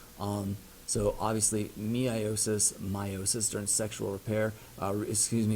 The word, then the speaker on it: meiosis: so obviously me iosys meiosis turned sexual repair excuse me sexual reproduction i sometimes pronounced that me I assistant I get it confused with mitosis but it is meiosis crossing over of the